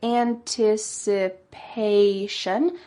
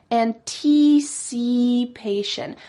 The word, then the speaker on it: anticipation: Now, usually we say anticipation, but instead she said anticipation. So here again, she's using that long E sound, anticipation.